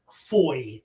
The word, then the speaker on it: Foy: the first move so the first sound is Foy so you could spell it f o y i or f-o-i says Foy like boy but if you can